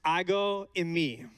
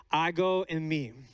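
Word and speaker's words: ἐγώ εἰμι: book of john the in the greek it is pronounced i go in me i go in me the phrase i am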